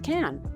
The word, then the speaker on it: Cannes: I've heard it's Cannes. Like I asked like the French. Yeah, the French say it's Cannes.